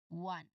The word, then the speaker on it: one: Again, what's the initial sound of number one or one? That is a clear W sound or W sound. One.